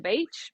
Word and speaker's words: Beech: were going to the beach because my last name is Beach yeah although it's spelled differently we kind of just